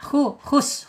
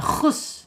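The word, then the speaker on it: حُسْنًا: Ha, hus, awas jangan terlalu naik, jangan khus ya. Kalau khus dipakai kha dia.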